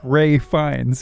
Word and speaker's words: Ralph Fiennes: So you don't say the L, you say the phonetic F sound for the PH, but because his last name starts with an F as well, you kind of can it just blends phonetically together. So it sounds like Ray Fiennes.